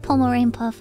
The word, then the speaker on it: Pomu Rainpuff: to bother you but my name is actually pronounced pomerane puff oh my bad